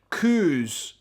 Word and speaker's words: coos: It is a cow, a type of cow, but we don't say it like that. You know the big hairy cows that we get, the big ginger ones, a big kind of postcard picture of Scotland. We call them Highland coos.